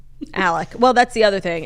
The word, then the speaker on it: Alex: And they actually don't even say Alec. They say Alec. I find like the names in this trial to be the most infuriating part. Like Alex Murdaugh is how it's spelled, and everyone's like Alec Murdaugh.